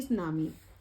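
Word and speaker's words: tsunami: सो ये आता है जैसे टी सुनामी, इसको सुनामी कहते हैं, और टी इसका साइलेंट होता है। मैंने आपके लिए रीड करके दिखाया, लेकिन टी नहीं बोलते, हम इसको सुनामी कहते हैं।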